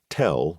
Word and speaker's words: TEL: There was the MZ KT79221 mobile transporter erector launcher tell rhyming with hell as the Americans had coined it was one of the most rugged versatile and capable vehicles on the planet.